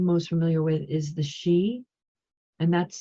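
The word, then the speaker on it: Sidhe: Federation so she kind of moves around the Galactic Federation in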